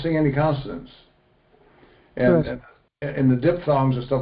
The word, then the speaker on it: diphthong: Okay, that is pronounced as Diphthong.